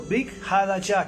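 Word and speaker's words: ברית חדשה: Y sobre todo, desde el año 350, cuando Constantino mandó crear el Brit Hadashah, así se dice en hebreo, Brit Hadashah, que es el Nuevo Testamento, que realmente es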